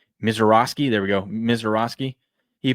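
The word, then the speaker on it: Misiorowski: Mizorowski.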